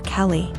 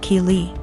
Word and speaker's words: Keeley: I realized she was calling my daughter Kelly my daughter's name is Keeley pronounced Keeley so after school was